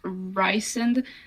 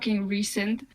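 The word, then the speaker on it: Rhysand: name to me as long as it's uh pronounced ryen not recent or recent like recent can you can you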